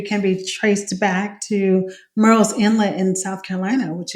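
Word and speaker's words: Murrells: how to pronounce it we often say Merl like Pearl because of the closeness and um the phonetic sound of that but you know it I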